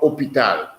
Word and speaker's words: hôpital: in French it's called hôpital. Why hôpital, not hôpital? Because the French silence when H begins a word, the French silence it, just like in man, l'homme.